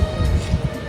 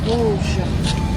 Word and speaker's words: Vosges: No, this is what we call Place des Vosges. V-O-S-G-E-S. Yeah, there are many letters in French that we don't pronounce.